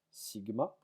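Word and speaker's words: σ: Alors mu pour nous, ça sera, enfin mu, cette lettre-là se prononce mu, pardon. Celle-ci se prononce sigma.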